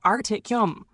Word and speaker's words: Artem: Artem sounds similar to Artyom, like Tom with a Y start.